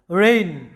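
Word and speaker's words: reign: আর এই একটা সিলেবলের মধ্যে আমাদের কি আছে? যে এন এর আগে জি আছে, তাই জি এর কোনো উচ্চারণ হবে না।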